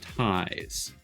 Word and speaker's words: Ties: my name is ties it's pronounced ties like the word advertise that is a an example uh courtesy of Kirsten um appreciate that for